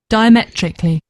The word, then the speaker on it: diametrically: Diametrically. Yeah, that's it. She's got a great voice. That lady, the letter A is We We shouldn't pronounce the letter A, the second A diametrically.